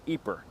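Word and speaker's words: Ieper: But here in the Dutch-speaking part of Belgium, you're more likely to find it spelled I-E-P-E-R, pronounced Ypres.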